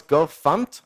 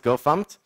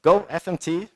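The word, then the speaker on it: gofmt: I guess everybody knows by the way it's pronounce gof fump at least the go team pronounce it gof fump I've heard it so many different ways I pronounce It gof fump Go fmt sounds okay guess uh then there's go Imports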